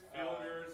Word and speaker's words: Filgers: Filgers, like Phil, then Gur, like Tony the Easton Alexander.